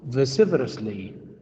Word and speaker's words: vociferously: How do you pronounce it? Vociferously. It comes from the word voice.